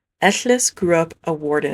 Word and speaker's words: Ellis: Next up, we have of K Aberhen, pronounced with the Welsh double L sound. Eless grew up a ward in a castle after being found in a forest as a very young child.